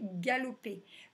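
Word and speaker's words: galopent: L'action dans cette phrase, c'est galoper. Donc, leur lapin galope, à la fin, on met ENT. C'est la marque du pluriel sur le verbe. Attention, on ne prononce pas en, on dit e, galope.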